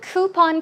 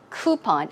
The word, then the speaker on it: coupon: delivered to you hmm now the word coupon can be uh pronounced two ways i think coupon i say coupon yeah i think that's what you say in korea coupon or coupon you can choose whichever way coupon coupon and booklets they're small